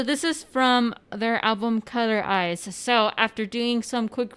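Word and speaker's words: COLOR*IZ: So after doing some quick research right now, we found out that it's just how you pronounce their name, like of the group Eyes One. It's Color Eyes, Heart Eyes, Bloom Eyes.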